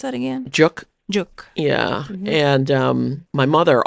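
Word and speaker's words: 粥: How do you pronounce that again? Juk.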